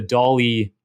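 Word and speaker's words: DALL-E: you go to the dolly blog post so this is it's pronounced like salvador dali um but it's spelt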